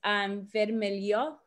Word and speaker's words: vermelho: And there is differences, like rojo for red is vermelho, I believe. That's how you pronounce it, with the H being like a E sound.